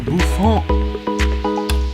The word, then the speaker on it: bouffant: Beehive, buzz cut, or bouffon? Yes, I'm going with the proper French pronunciation. Bouffon.